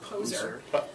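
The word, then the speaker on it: Pozhar: I'm sure that's not how it's pronounced in the Russian, but it certainly looks like Poser to me.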